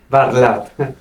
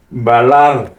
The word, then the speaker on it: Barlat: I començant aquí, al meu costat, en francès, Balar. Barlat. Pronuncia bé. Barlat. Balar. Ah, Barlat.